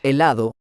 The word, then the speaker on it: helado: Helado. Helado means ice cream in English. Do you remember? The letter H in helado is pronounced silently, just like in hola.